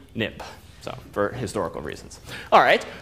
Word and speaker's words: xib: xcode it became xib but you pronounce xib nip so for historical reasons